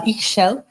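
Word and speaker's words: Ixchel: The earth goddess Ish is uh X is pronounced uh Ishel here is uh all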